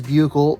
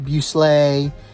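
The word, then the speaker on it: bouclé: It is Bucle. It is not Busley. It's not Buckley. It's Bucle. That is a proper pronunciation.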